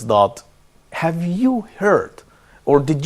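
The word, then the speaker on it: ض: This letter represents the emphatic counterpart of Dal. It should be low and front of and close to the roof of the mouth.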